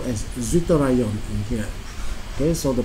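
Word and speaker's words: zwitterion: we call it as what we call as zorion in here okay so the pronunciation is w i z TT IO n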